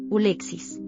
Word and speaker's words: Alexis: En inglés, el nombre Alexis conserva su forma original, pero su pronunciación varía ligeramente. Ulexis es un nombre muy